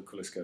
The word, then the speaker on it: Koliska: You pronounce it Koliska. It's basically the same spelling.